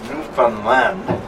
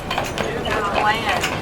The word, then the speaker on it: Newfoundland: You don't say, I'm going to Newfoundland. How do you say it? Newfoundland. How do you say it? Newfoundland.